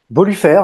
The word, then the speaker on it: Bolufer: Aujourd'hui, j'ai l'immense plaisir de recevoir en fait Boluffer, c'est comme ça qu'on prononce? Bolufer, mais Bolufer si tu veux, ça sonne Ok, c'est mieux.